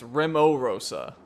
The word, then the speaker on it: Rimorosa: let's do it oh I've been saying it wrong it's rimo Rosa anyways we're in the